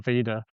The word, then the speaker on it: Veda: it was Vader or Veda. Yeah. I I pronounce it Vader, um but I understand if others would pronounce it Veda. Again, if it was Veda, it doesn't have a double e.